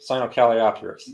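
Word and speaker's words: Sinocalliopteryx: theropod dinosaur that's uh cynocaliatrix i believe cyanocaliopterus that's how it's pronounced had the confucius soreness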